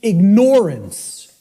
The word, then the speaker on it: ignorance: the way it's pronounced I tell people start pronouncing it ignorance ignorance then people will hear the word ignore in it and and the connotation